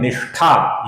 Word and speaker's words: निष्ठा: फिर नाम है निष्ठा, ये श है, श नहीं है। जहां पर श है उधर हमें श का उच्चारण करना है, जहां पर श है उधर